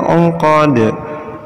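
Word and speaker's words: الْعُقَد: Cara membacanya, wa min syarrin naffasati fil 'uqad. Ingat, da-nya dipantulkan ya. 'Uqad.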